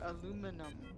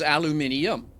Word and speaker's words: aluminium: Okay, so if you actually take a look, it's al-u, and so it's alu min eum. The actual proper pronunciation, if you go with a three phonetic break, is aluminium.